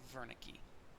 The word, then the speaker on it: Wernicke: see in the text is spelled with a W but because he it was a German researcher his name is pronounced as if it were a v so Wernicke unlike Broca's patient Wernicke's